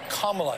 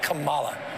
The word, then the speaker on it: Kamala: that prosecutorial mindset and I'll tell you what kamla Harris will show up tonight not Cala I think this is also about dignity this